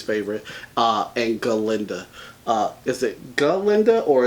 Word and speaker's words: Glinda: Is it Glinda or is it Glinda? The G is silent.